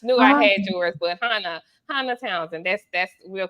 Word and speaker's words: Hannah: with you earlier but my name is pronounced Hana like Benny Han Hana okay Hana so Hana